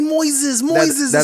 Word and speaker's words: Moises: to pronounce boy says they call me Moises like noises they don't Embrace and